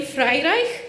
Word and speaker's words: Freireich: next guest is Naomi Freireich, and yes, that's how you say it. Frei as in French fry, and Reich as in Reich.